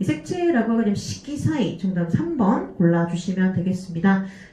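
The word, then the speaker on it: 色彩: 이 색채라고 하게 되면 식기사이 정답 3번 골라주시면 되겠습니다. 이거는 빛색자가 쇼크가 아니라 식기라고 읽어주셔야 되고요. 정답 3번 골라주시면 돼요.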